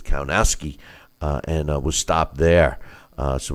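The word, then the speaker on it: Kownacki: the ring with Adam Cohn a key and or the way they pronounced is count ASCII and was stopped there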